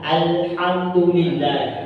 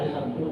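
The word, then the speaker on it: الحمد لله: Sekali lagi, terkadang banyak orang-orang yang membaca alhamdulillah dengan dibentalkan. Praktiknya seperti ini. Alhamdulillah. Alhamdulillah. Itu jangan pernah seperti itu ya membacanya. Kenapa? Karena lam itu tidak memiliki sifat memantul.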